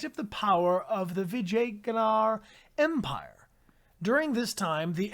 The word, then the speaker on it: Vijayanagar: Anybody want to take a guess at the pronunciation of this Indian city? This is Vijayanagar.